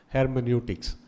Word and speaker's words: hermeneutics: That's how you pronounce it, hermeneutics, phenomenology.